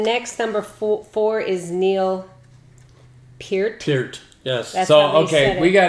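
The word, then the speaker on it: Peart: Pier the other day I've been calling him Neil per my entire life and you've been wrong okay cuz I've heard him say it's like ear okay it's spelled the same way it's p and they say it that way on video it's just that people got lazy okay and called them per and and you know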